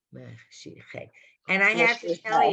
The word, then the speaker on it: Mashiach: Mashiach. Mashi. The H is silent. The H is silent. Hey. Right. Mashiach.